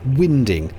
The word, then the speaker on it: winding: Contrary to what some will claim, it's pronounced winding, and a winding hole is a triangular notch cut into the canal that gives narrowboats a wide enough place to turn around.